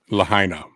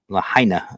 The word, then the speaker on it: Lahaina: Lahaina. Lahaina.